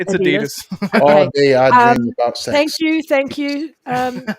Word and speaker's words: Adidas: we say Ad Adas no no Adidas it's Adidas thank you thank you um celebrating two months of membership let's go thank you for two months amazing yeah much love to Adidas man another one of our great supporters yo